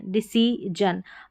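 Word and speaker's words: decision: डिसीजन अब इसको जन पढ़ेंगे क्योंकि जो है यह आई और आई है। एस के दोनों तरफ डिसीजन पढ़ दें इसको आप तो करेक्ट हो जाएगा।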